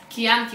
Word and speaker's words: Chianti: is she a cure it is pronounced as key like chianti why another specific letter